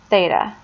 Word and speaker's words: theta: it like a little baseball cap that is pronounced theta theta is just a Greek symbol that we